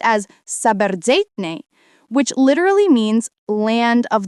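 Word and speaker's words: საბერძნეთი: kept its original worldview, calling Greece this word pronounced as Saberzeitne, which literally means land of the wise.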